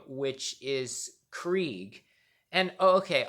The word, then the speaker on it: Krieg: psycho's name, which is Krieg. And okay, oddly enough, the same thing that was with Tina's name pronunciation also applied to Krieg, because Richard and I both thought that his name was pronounced Cryeg.